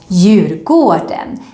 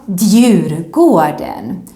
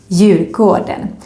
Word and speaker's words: Djurgården: But remember, when you go to this island, you need to pronounce it as Djurgården and not Djurgården. No, because the D is silent, Djurgården, and it actually means the garden of the animals.